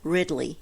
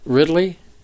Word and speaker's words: Ridley: okay just she ridle Ridley ridle not ridle Ridley Ridley it's not it's just twoo syllables okay well we're moving